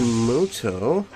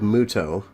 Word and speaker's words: Muto: this cave playing Yugi moto you know when the enemy they always pronounce it like moto but it's clearly spelled Muto I mean come on